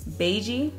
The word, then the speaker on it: beigey: So that color is beigey, and it's spelled like bay g, so cute.